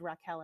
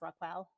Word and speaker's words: RaQuel: I mispronounced your name I said Rockell and it's rock ril yeah yeah no worries